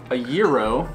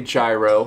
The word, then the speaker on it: gyro: gyro well you know a lot of people will say gyro but it's I think it's technically if you're from Greece and you're speaking Greek it's it's zero zero tell us how you